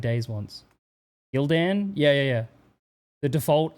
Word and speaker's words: Gildan: Who else pronounces it Gilden? I've never I mean, I guess Gilden, you could say that, but I just say Gildan.